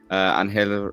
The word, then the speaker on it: Ángel: I am playing Ángel Ramos, Angel Ramos for people who can't pronounce the accent.